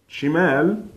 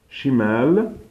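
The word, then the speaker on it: شِمال: familiar about you know the pronunciation is almost the same it's just only one letter is it's left and Shamel chamel is enough so shimel left and chamel is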